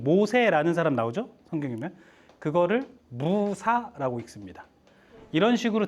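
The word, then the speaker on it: موسى: 그거를 무사라고 읽습니다. 이런 식으로 다 있어요. 여러분, 아브라함이라고 성경에 나오죠? 아브라함은 뭐라고 읽어요?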